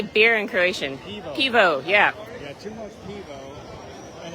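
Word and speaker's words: pivo: right how do you say beer and croatian pevo yeah yeah and it's only what nine o'clock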